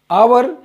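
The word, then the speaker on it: hour: जैसे हम लिखते हैं अगर अंग्रेजी में आवर एच ओ यू आवर और मैंने घंटा है तो पड़ते हैं हम आवर लेकिन लिखा गया है हवर तो जब हमारा उच्चारण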